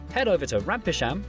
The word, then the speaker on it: Rampisham: Starting in Biaulio, Beauty, head over to Rampisham, Ransom, then down to Mousehole.